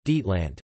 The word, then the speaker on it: Deutschland: Germany, German, Deutschland, German pronunciation, Dietland, officially the Federal Republic of Germany, German, Bundesrepublik